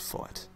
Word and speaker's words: FeiT: fui TI know how it's spelled but it's pronounced fight and the kid that made it is pretty